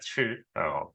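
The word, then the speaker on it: 吃: 다만 아 이 중국어 발음은 칠이라고 하는데 먹다라는 뜻입니다.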